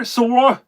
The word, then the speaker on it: Swarovski: Swarovski, that's how you say it. Thank you, Darren. Sarovski crystals.